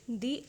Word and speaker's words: the: In इन दी अदर, इसे दी पढ़ेंगे क्योंकि यहाँ पे जो अदर है इसे हम प्रोनाउंस करते हैं तो ये इसका जो फर्स्ट लेटर है वो वॉवेल साउंड आ रहा है, तो इसीलिए यहाँ पे द के बजाय दी प्रोनाउंस करेंगे।